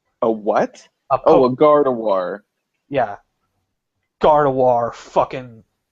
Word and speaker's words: Gardevoir: Gardevoir, fucking... Get your fucking shitty French pronunciations out of here. There's a fucking V in that name, goddammit. You Also, pronounce it with a V.